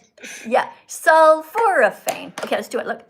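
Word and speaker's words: sulforaphane: sulforophane. Okay. Let's do it. Look. Sulphurane. Four syllables.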